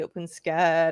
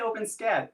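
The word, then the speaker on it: OpenSCAD: you say i say open scat if c if c-o-d-c-a-d is an acronym that's pronounced cad yeah s in front of it you cannot convince me that that's not pronounced scat that's a good point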